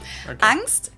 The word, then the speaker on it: Angst: Angst capitalized in German and with the German ah basically just means fear and angst in English is also